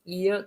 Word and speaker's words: Ihr: 그래서 이거는 이 이렇게 되는데, 자, 음절 끝에 R가 나오면 이거는 약간 요 정도의 소리가 난다 그랬어요. 그러다 보니까 이야 이렇게 됩니다. 우리말로는 이어 하면 쉬워요. 그래서 wie ist Ihr Name 이렇게 제가 발음했습니다.